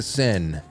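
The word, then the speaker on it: Seine: uh more specifically the multiple Olympians who have now been hospitalized after swimming in the Sen River, which now I pronounce correctly.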